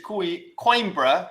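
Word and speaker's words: Coimbra: And he corrected me when I said Quimbra, which it is pronounced quimbra.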